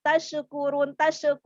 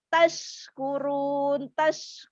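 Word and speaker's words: تشكرون: Mengalir udara di seluruh rongga mulut, tapi shinnya tidak dipantulkan, maka membacanya tidak tashkurun, tapi tashkurun.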